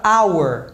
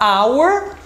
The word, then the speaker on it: hour: Tem caso que o H é mudo, então, por exemplo, na palavra hour, que é hora, então se eu for falar hour, o som vai ficar de vogal ao invés do do do de consoante.